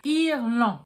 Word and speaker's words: Irlandais: For the last word, Irland, you get an R again, and you gargle again. A and N becomes en, exactly like the beginning of the first word.